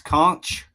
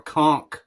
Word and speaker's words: conch: Conch with a CH or conch, like I'm going to conk you in the head.